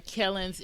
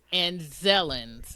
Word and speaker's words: Anzellans: I said on Kellens, it's Anzellans. I think that's how they pronounce it.